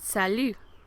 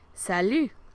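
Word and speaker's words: salut: then you can use the word sal sal you don't pronounce that T at the end that's more like means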